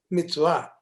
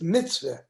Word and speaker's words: mitzvah: The mitzvah, the word mitzvah in Hebrew is mitzvah. In Yiddish, it's mitzvah. I see. Which syllable is emphasized? Well, yes, and then it doesn't end with an ah, it ends with an eh in Yiddish.